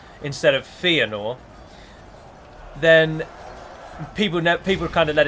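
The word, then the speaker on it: Fëanor: But if, for example, I say Feanor instead of Feanor, then people kind of let it slide, and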